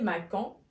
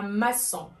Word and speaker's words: maçon: Avec un CCD pour ne pas prononcer macan. لكي لا يتم نطق le C que. Alors, ça n'a d'aoul la C dit تحت C et on dit un maçon.